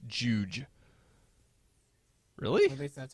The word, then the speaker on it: Jowj: Oh, apparently it's Jowj. Really? At least that's how they would pronounce it.